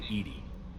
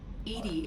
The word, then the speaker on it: EDI: airlock is a jar why are you named edie edie is the phonetic pronunciation of edi that is an acronym for